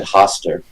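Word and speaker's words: Hastur: comparison uh oh uh sorry I pronounced it wrong then I always said Hoster well I think the whole point is that there's not there is that the names aren't supposed to be able to be pronounced in in human languages ah fair enough I I think both are correct because I have heard it both ways oh fair enough fair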